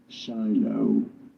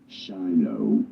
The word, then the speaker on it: Shiloh: So how do you go about pronouncing it? Shiloh. Shiloh. Pretty straightforward once you know. Okay, Shiloh, yes, that's how it's pronounced.